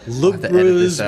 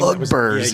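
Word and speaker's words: Lugbúrz: Again, I'm going to butcher these. Lugburz was a name Lugburz, yeah. Lugburz Yeah, that's it. Yeah. Lugburz.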